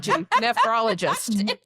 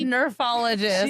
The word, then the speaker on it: nephrologist: Nephrologist. Am I saying it right? Yeah, you did. She said it funny. nephrologist. Anyway, I said nerfologist. Like I was like Nerf gun.